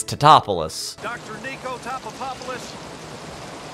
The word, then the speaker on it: Tatopoulos: Two, people are mispronouncing Nick's name the entire movie. It's just, it's a very 90s kind of joke. Like, they're just going, oh, Mr. Tatopa? And he's just like, it's Tatopoulos.